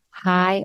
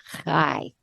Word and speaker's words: chai: or two times life now I said the word high but you actually say it K and it's spelled like chaii but it has nothing to do with chaii it's spelled c h Ai and a lot of people confuse K with chai te but they're very very